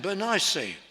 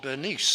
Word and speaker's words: Bernice: Well, that's our classical pronunciation. People bearing this name prefer to be called Bernice today. Maybe that's how I should say it, and get with it and get up to date. But that's how we're used to pronouncing it.